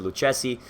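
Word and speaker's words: Lucchesi: Luce see lucci see Lou chessy as an Italian I would pronounce it Luke chessy you know he's playing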